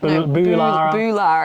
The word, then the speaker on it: Boolarra: What is it, Boolarra? Boolarra, because it's got an extra O in there.